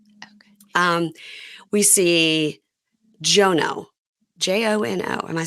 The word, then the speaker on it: Jono: um we see jono j o n o am I saying it correctly it's jono jono it's short for something um he's oh it's like short for Jonah or something he's from Antiga he's